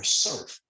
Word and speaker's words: CERF: Who has heard of the Community Economic Resiliency Fund, or CERF, as it's pronounced?